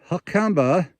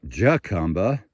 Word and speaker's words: Jacumba: The Desert Ajo, spelled A-J-O, so the J is pronounced H, as in Hucumba, not Jacumba.